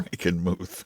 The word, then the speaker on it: Frankenmuth: Frankenmuth. That's what it says, Franken, M-U-T-H. How would you pronounce that?